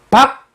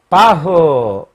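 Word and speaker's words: Bach: 시작한다 그랬죠 다시 시작하는 박 하면 서양에서는 묵음을 소리를 안내기 때문에 어떤 걸 하느냐면 아예 생략을 하든가 그렇지 않으면 그 태양을 뜻하는 일치를 붙였습니다 붙이는 방식은 바흐 이렇게 되는데요 박이 아니고 바흐의 되는데 h 붙이는 방식은 주로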